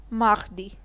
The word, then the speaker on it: mardi: Tuesday in French is pronounced as mardi.